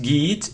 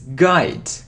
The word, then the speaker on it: guide: So it isn't git, it's guide.